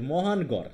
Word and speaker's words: মহানগর: হ্যা হ্যা অনেকে এটাকে মহান গড় উচ্চারণ করতো যে মহানগর এটুকে একসাথে করত আর যেহেতু আলাদা গর কিন্তু আসলে উচ্চারণ কি এটার মহানগর এখন